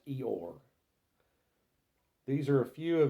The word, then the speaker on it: Io: a Supreme Being named spelled IO but it's pronounced eore these are a few